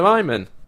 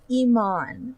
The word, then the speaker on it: Iman: Iman, as in, like, David Bowie's widow.